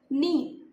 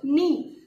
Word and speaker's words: knee: This is knee, K N double E, K N double E, knee. Here K is silent, so we will call knee.